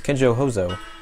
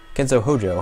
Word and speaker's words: Kenzo Hojo: photo this man is kenjo hoso Kenzo Hojo I completely mixed up those two syllables you recognize him he